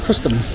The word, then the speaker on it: Crustum: So it's called Crustum. That's how you pronounce it, Crustum.